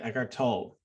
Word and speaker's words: Eckhart Tolle: Eckhart Tolle is, I guess, the pronunciation I've been told by his publisher.